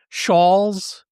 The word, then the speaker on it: shawl: Evidently, I've been saying it wrong for the last 59 or 60 years since I learned to speak. S A WL. It's not a shawl like Brad Shaw. It's a Shaw.